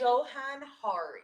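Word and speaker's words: Johann Hari: I all can you say his name again Joan har h a r i and the name of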